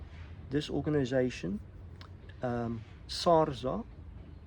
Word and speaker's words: SARZA: do so when you call this organization um sarza it's spelled s a r z a so if